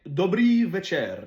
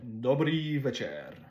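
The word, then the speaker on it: dobrý večer: Après ça, en tchèque, dobry večer, dobry večer. Le C avec un genre de accent circonflexe, mais de l'autre bord, c'est comme tch.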